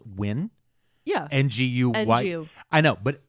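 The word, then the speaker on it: Nguyen: I see the Vietnamese name that is is pronounced win yeah ngu I know but I had so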